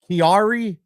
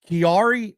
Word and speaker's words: Chiari: I had to look up the pronunciation cuz I wasn't sure. It's called Kiari Malfformation. Kiari Malfformation.